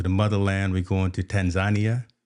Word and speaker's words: Tanzania: motherland we're going to Tanzania that's how they say it it's not Tanzania it's Tanzania so we we going to